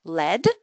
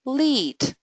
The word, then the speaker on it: lead: So this word can be pronounced in two ways: lead, so heavy metal, and lead, yeah, to be a leader, to be at the front.